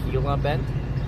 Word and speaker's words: Gila Bend: pronounced hila bent.